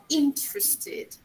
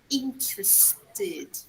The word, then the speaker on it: interested: So, for example, interested, interested. It's not interested. No, it's interested. Okay? Id. That's the sound.